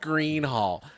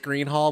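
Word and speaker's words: Gruene Hall: welcome to the gr it's actually pronounced Green Hall it's pronounced Green Hall they made fun of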